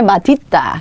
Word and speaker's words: 맛있다: 뭐도 인정해 주기 시작했어요 맛있다 멋있다라고 발음하는 것도 표준 발음에 넣어 줍니다 그래서 이게 두 개예요 맛있다 어 그다음에 마디다 그다음에 멋있다 뭐 디다 둘 다 표준 발음이 자 자 지금 보시게